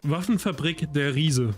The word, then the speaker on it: Waffenfabrik der Riese: There's a sign that says Waffen Fabrik der Ries. Seriously, guys, I only expect my pronunciation on a lot of these words to just get worse. Luke, pronounce how you say this. Waffenfabrik der Riese.